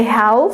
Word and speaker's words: half: As you know, we don't say half, so the L here is silent.